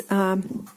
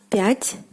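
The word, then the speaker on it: пятьсот: The stress falls on the o here.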